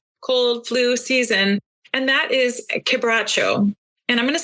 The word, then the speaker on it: Quebracho: So then we come to some information on Quebracho, It looks like it's pronounced Quebracho, but it's actually Quebracho. It's a Portuguese word, given that it's from Argentina.